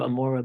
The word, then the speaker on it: Amora: that's what they were pronounce it amoa or in yish right in Hebrew Amora but I know so